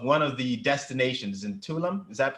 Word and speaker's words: Tulum: a video of one of the destinations in tulum is that pronounced correctly right tulum yes and uh i was enamored i was